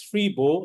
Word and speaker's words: Freeboh: local phrase in Singapore it's actually pronounced as free bow and um what it